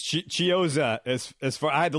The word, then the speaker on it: Chiozza: It's Chiozza. As far I had to look it up myself. It's Chiozza.